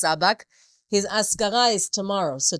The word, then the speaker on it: Sabag: Though it's spelled with an ALF in front, it's pronounced Sabag.